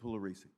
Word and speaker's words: Pugliaresi: Third, we're going to hear from Lucian Pugliaresi? All right. Would you repeat Lucian, would you just say your name for us? Lucian Pugliaresi. Lucian, the P is silent? Yes. It really is.